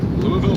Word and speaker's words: Louisville: We'll say it almost in one soft syllable. And the part is very subtle. Louisville. All right, we got it. Louisville, Kentucky.